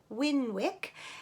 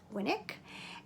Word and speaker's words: Winwick: pronounce it here but in the UK it is pronounced winick and apparently Winnick mom